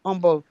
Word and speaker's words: Humble: Okay, we were in Humble, pronounced Humble.